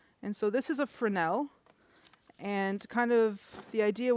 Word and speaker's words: Fresnel: with people about lights, I know it's spelled Fresno, but it is said Frenel. It's a French guy that invented the type of light, uh, the lens on the front.